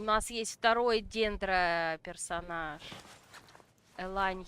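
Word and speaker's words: Yelan: Элань Елан. Ну, технически, если переводить ее, как это сказать? Ну, я ее называю Елан, кстати. Потому что по-английски это так и пишется, Елан. Поэтому я и так иногда ее называю.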